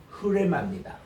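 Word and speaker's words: ῥῆμα: 이제 헬라어로 레마라고 그러는데 정확하게 읽으면은 흐레마입니다. 흐자가 약간 있어요. 그리고 레마거든요. 우리 따라합시다. 레마. 레마 할 때 레가 깁니다. 레마. 근데 그 약간 히읗 발음 섞어보세요. 레마. 이게 이제 로라는 R 발음 이게 히읗자가 포함된 R이에요.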